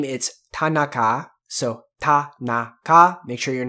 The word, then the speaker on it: Tanaka: Remember in Japanese that none of the syllables receive stress, are not stressed any more than the other ones, and that a at the end is going to remain an a, not like an like we want to give it.